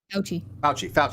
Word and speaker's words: Fauci: How do you pronounce his name? Fauci.